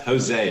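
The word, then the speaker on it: José: And just look, it's pronounced Jose. It's actually a Spanish name.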